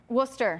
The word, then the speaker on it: Worcester: Worcester. Worcester.